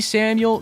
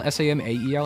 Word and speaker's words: Samael: How do you say it? I know it's spelled A-E-L, S-A-M-A-E-L. Is it Samuel? Am I stupid? It's like Samuel, right? Samael. Manuel Samuel. Yeah. I've always said Sam-A-L. Yeah. I mean, Samael? I feel like there's too many syllables.